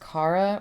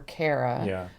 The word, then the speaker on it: Kara: The roommate's name is pronounced Cara or Carara.